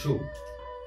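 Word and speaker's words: 竖: এটা হলো শু, তাকে একটু ক্লিয়ারলি সুন্দরভাবে আমাদের দেখতে হবে লম্বা করে শু।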